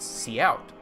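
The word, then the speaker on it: cout: colon colon see out is the character output stream uh it is pronounced C out uh this What's this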